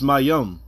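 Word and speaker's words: מים: Okay, because you don't pronounce the last ma in that word.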